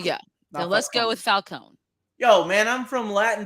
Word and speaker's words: Falcone: i've read something that us americans pronounce it falcone italians say falcone and i keep thinking